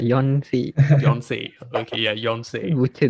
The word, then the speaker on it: Yonsei: Yong something. Not Yong, like Yonsei.